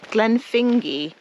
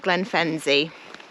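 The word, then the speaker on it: Glenfinzie: cut straight back to glenfingy not Glenn fenzie looks like Glenn fenzie pronounced glenfingy so now we know better foreign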